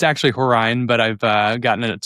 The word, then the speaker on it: Horine: I want to make sure I got the pronunciation of your last name correct. That's okay. It's uh it's actually Horine, but I've uh gotten it several different ways, so um that that's just fine.